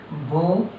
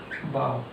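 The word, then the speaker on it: bow: Same spelling, different pronunciation and different meaning. लिखते same है, पढ़ते अलग अलग है। जैसे कि बो बाव, इसको हम बो पढ़ते हैं, इसे क्या पढ़ते हैं?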